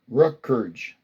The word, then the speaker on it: Rutgers: R-U-T, Rut. G-U-R-S, Gert. Rutgers.